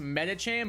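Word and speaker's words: Medicham: It's like it's it's pronounced medacham but it's written as like medi like medical like that.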